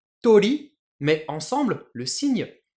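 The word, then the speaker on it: 鳥: Et oiseau, je le prononce tori.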